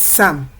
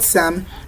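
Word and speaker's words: psalm: Hence, the first consonant letter noun that is written there is not pronounced. So what we have rather is Sam. That means the first consonant sound that is produced in the word Sam is the consonant sound S, the S sound.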